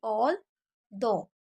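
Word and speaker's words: although: जी एच हमेशा silent रहता है, सिर्फ कुछ 4-5 को छोड़ के बाकी सभी में जी एच को साइलेंट ही रखा जाता है। तो ऑल दो, जी एच है ही नहीं, ये समझ लीजिए, ऑल दो हालांकि बोला जाता है, ठीक है।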